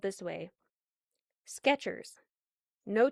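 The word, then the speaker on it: Skechers: There's no Yeah, sketcher, baby. Sketchers.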